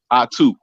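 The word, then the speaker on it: Ahtoo: dude what's your name my name pronounced is I too it's pronounced a-h-t-o-o it's pronounced a-h-t-o-o that's how you pronounce it you ain't got it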